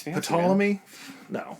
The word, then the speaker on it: Ptolemy: When I was writing out the fact board, I almost just omitted the P because it makes no sense.